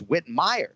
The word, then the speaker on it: Whitmire: You got to go listen to it because it's Whitmire. So emphasis on the second syllable.